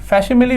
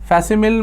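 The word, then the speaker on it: facsimile: बता ही देता हूं फैस मिल पढ़ते हैं इसे फैमिल मत पढ़ दीजिएगा फैस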